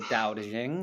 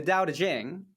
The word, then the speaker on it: Tao Te Ching: dao it's taoism and it's spelt the tao tae ching but obviously it's like the dao de jing i guess something like that so we're gonna be